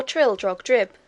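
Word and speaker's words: Trildrogdrib: trial drag dub or Trill drug drip for it is pronounced both ways as near as I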